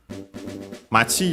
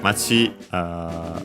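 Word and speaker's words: 町: Because yeah, Machi should be accent under the last syllable it is.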